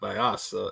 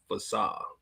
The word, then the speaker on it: Fasah: It's not Vyasa, it's Fasah.